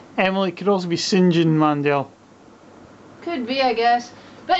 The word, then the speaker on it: Mandel: Emily St John Mandel Mandel like Howie Mandel I don't know could also be uh Emily Emily could also be Sinjin Mandel could be I guess